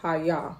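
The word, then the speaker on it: hayya: me just tell y'all it's spelled h a y y a but it's pronounced Haya that's exactly what I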